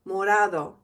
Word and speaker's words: morado: Just a gentle tap of your tongue on the roof of your mouth. Morado.